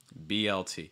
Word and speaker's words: BLT: this is just blt blt notice the linking between the b and the l it's not b l b l that's not linked at all it's more b l b l so it's